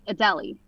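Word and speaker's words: Adélie: I remember it now that you say that because I always want to say "A-da-lay," but it's A-deli. A-deli. Yes. Like you're going to a deli.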